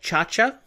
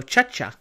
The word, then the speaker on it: Chacha: uh audio on so I just have to assume her name is pronounced kind of like in that scene from Emperor's New Groove where he goes hey kcha pcha so chaa her name is chaa uh let's see what